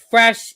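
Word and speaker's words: crème fraîche: Fresh is how it's pronounced.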